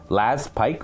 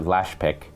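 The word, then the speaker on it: Laspykh: I do now it's it's spelled l-a-s-p-y-k-h so it could be Pike last Pike or lash pick and I'm gonna say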